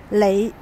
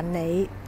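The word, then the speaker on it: 你: Lị chúng ta có thể đọc là nị đều được.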